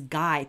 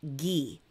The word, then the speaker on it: Guy: thought his name was guy but he's French and so it's pronounced ghee ghee de Maupassant so the